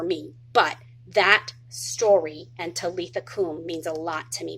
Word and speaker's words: Talitha kum: Talitha Kum. Some people pronounce it Talitha Kume, and some people spell it differently, but some of the Bible versions say Talitha Kum, and I love that.